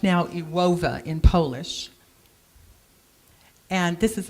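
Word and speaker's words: Iłowa: that with how though and this town it's pronounced now you OVA in polish and this is a beautiful little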